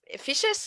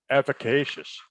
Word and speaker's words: efficacious: the formula to create the most efficious I always pronounce that word wrong help me out there uh efficacious there we go efficacious efficacious product available